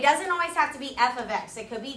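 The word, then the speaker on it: f(x): notation all year long you pronounce this F of X so write that down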